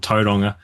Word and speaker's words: Tauranga: Um, the city, the city I'm in is called Toadonga. Wait, wait. How do you spell how do you spell that?